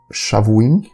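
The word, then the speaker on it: שָׁבֻעִים: 70 é a mesma, mas como pronunciar? Então, Shavuim, semanas, Shivim, 70.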